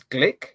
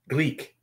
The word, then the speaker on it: Gleek: did you say his name is Glick? Gleek. Gleek.